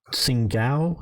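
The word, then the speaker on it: Tsingtao: valiant defense of their garrison and was its sing gal is how you pronounce it it's along the coast way or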